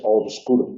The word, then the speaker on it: obscuro: dice transporte igual que mucha gente dice oscuro y muy poquita gente utiliza el etimológico obscuro No nadie nunca Ja se ha pronunciado obscuro Porque en ese caso la B además es aproximante es obscuro obscuro no se llega a hacer la estructura silábica sencilla